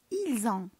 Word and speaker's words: ils ont: ils ont حتى هي بنفس الطريقه كنقراوها ils ont.